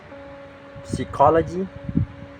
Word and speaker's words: psychology: so it often silent to it's like receip psychology and psycho and the next is the letters